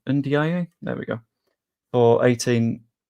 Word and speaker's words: Ndiaye: Iliman Ndiaye, I've pronounced that wrong. Ndiaye?